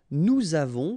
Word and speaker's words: nous avons: Okay, so j'ai, tu as, final S not pronounced, il a, elle a, nous avons, final S not pronounced, and then we make this little link between the two, nous avons, vous avez, a Z